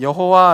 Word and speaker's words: 여호와: 영어도 옛날에 그렇죠 요즘에는 또 이 사람과 남은 여호와 라고 하기도 하고 야외 라고 하게 되는데 왜 이 단어를 가지고 두가지의 소리에 응가를 가지고 있냐 며 는 이 단어의 발음 모르기 때문에 그래서 어떤 사람들은 이것을 여호와 라고 발음 하기도 하고 어떤 사람은 야외 라고